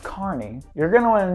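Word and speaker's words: Kearney: Also, this road is pronounced Carney.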